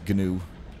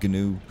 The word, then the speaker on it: gnu: Because it's pronounced gnu. It just doesn't sound very good, okay? It sounds like someone who just doesn't know how to say a word, but no, it's the official pronunciation, gnu.